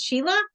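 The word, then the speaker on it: Síle: How do I say your name? Sheila. It's Sheila. Okay. Yep. Cool. Yeah. I would have never guessed that one. Yeah, it's spelled in Irish. It's the Irish spelling, the Gaelic spelling.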